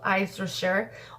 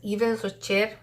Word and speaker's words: Yves Rocher: The brand is called Yves Rocher, or Yves Rocher. I think is most nice to pronounce, Yves Rocher.